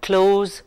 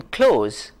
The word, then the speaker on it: cloze: developing reading comprehension which is known as the close procedure close is spelled c-l-o-z-e now you would like to know